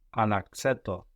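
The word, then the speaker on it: άλλαξέ το: Αλλαξέτο. Αλλαξέτο. Very good. So we get an accent on the A, like always, and then up again on the end.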